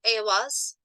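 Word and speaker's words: Eihwaz: It's usually pronounced Awas. My accent, though, obviously is very American. And said in the correct accent, it doesn't sound as much like Awas, but the A is pronounced as aw.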